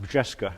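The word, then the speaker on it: Brzeska: Um it's pronounced Vesca.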